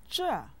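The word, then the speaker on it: 这: after me Shama sama-sama Jah means this it has a fourth term listen sure sure sure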